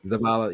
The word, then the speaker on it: Zavala: commanders about Zavala did I say it right Zavala yeah on Destiny was like one of the